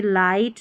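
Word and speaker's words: light: फिर है आई के बाद में GH रहता है ना, तो भी हम आई को आई पढ़ते हैं, क्योंकि GH साइलेंट होता है। तो इन सभी स्पेलिंग्स में GH साइलेंट है और आई को आई पढ़ा जा रहा है, जैसे लाइट, नाइट, हाई, राइट, ब्राइट। इन सभी को आप याद कर लें, ठीक है।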